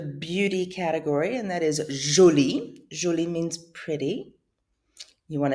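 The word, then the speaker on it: jolie: if you want to make it feminine julie it sounds the same way g-o-l-e you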